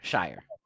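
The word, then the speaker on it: Scheyer: Shire.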